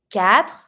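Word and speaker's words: quatre: X which is three cat careful you don't pronounce the U Cat s the X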